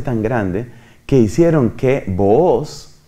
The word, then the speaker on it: Booz: grande que hicieron que Booz, otros pronuncian Boaz, que era el abuelo